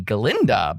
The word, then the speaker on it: Galinda: I mean, he's trying to say Galinda, but, a goat is going to go, Gah.